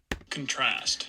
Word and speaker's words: contrast: of this word contrast contrast so we have stress on the first syllable here contrast and this is an